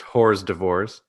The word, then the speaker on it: hors d'oeuvres: It's pronounced hors d'oeuvres.